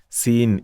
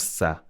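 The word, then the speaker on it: سين: Sin is Sin, it's not Sa.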